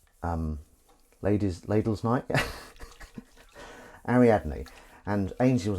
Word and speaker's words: Ariadne: ladies ladles night yeah ariadne and Ainsley was like how do you pronounce that and we had to we someone put it on them phonetically you know Harry add me so that he could